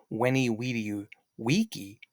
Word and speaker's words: veni vidi vici: And again, the phrase, you can say it is veni vidi vici or veni vidi vici. So again, in the Middle Ages, the V would end up becoming a V, but in ancient Rome, it would have been a W.